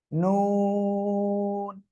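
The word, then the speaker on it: نون: নুন। দুই ঠোঁট গোল হবে, গোল। ঠিক আছে, ওকে। আর যে বিষয়টা বলবো, এই নুন অক্ষরটা কোন জায়গা থেকে উচ্চারণ হয়? জিহ্বার আগা, উপরের তার বরাবর উপরে তালুর সঙ্গে লাগিয়ে।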